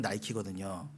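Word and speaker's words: Nike: 니케의 영어식 발음이 나이키거든요.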